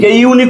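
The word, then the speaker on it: unique: এ করে দিলাম দেখেন দিস ইজ ডশ ইউনিক ইউনিক উচ্চারণ করেন ইউ ইউনিক দেখেন তো ইউ উচ্চারণ হইছে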